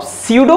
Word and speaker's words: pseudo: अब सीडो force, P silent है, सीडो force होती है